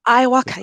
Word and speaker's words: iwoca: Tell us a little bit about Iwoca. Am I pronouncing that right? Iwoca, yes.